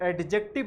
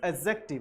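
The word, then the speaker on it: adjective: Pronoun है, एडजेक्टिव है, इसे एडजेक्टिव नहीं बोलना चाहिए, दिस इज एडजेक्टिव, यहां पर डी साइलेंट होता है, दिस इज एडजेक्टिव।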